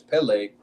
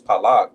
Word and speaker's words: Peleg: That's why when we read this right here, it says Peleg, but if you said in Hebrew it was Palag, you know.